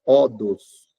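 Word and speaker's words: ὁδός: A palavra vem no grego é odos. Odos, se escreve assim com H.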